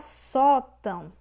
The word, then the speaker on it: sótão: Temos a palavra sótão. Sótão. Separamos dessa forma. Sótão. A sílaba tônica, ou seja, a sílaba que tem mais força, é a penúltima. Só. Então, é paroxítona. Paroxítona.